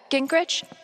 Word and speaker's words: Gingrich: Sтэф, Gingrich?